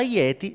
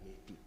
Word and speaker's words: yeti: Ora, il gioco linguistico qui è sulla pronuncia, perché la parola dread in tibetano si pronuncia je, e quindi ye, je, poi piano piano nei vari dialetti viene storpiata fino a diventare yeti.